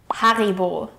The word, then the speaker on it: Haribo: Next up, let's talk about one of the biggest candy brands in the world, Haribo. Haribo macht Kinder froh und Erwachsene ebenso. The proper way to pronounce Haribo is Ha-ri-bo.